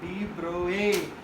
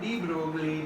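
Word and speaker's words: de Broglie: people like d bro it's not D Broly man I mean you can pronounce it however you want to but as a French scientist you have to pronounce this guy's name uh in the French accent in a French pronunciation in a French Manner and he is called as the bro a d a d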